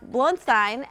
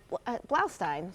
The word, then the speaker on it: Blaustein: Today we've got George Batlis, Blunstein, and Blaustein, sorry, mispronounced your name, and Jillian Weber.